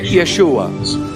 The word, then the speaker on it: Yeshua: Joshua yesua that's fine when when you Actually pronounce the name of the Lord in the hebrew language and the hebrew language is yeshua and aramaic or SY we refer to him